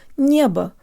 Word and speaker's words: небо: and protruded Nia Nia there's almost a slight Y sound built in draw